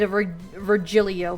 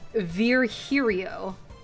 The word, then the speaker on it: Virgilio: bartender you look winded vilo vilo whatever the your name is it's pronounced Verio I'm not calling you that no I'm pretty sure it's virgilio you said as much